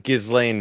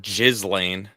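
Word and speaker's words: Ghislaine: I'd just say Gizlane. It's It's not Jizzlane.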